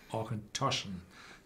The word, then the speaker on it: Auchentoshan: And if you see those Gaelic names like Auchentoshan, Tullibardine, Bunnahabhain, they are all pronounced on the second syllable.